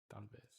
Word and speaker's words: talvez: Talvez. Talvez. Talvez. Talvez. Talvez. Talvez. You guys really don't pronounce the L, do you?